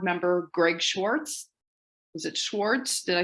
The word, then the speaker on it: Schwartz: Is it Schwartz? Did I say it? Schwartz? How do you say your last name? It's actually pronounced Schwarzy, but it's a common mistake.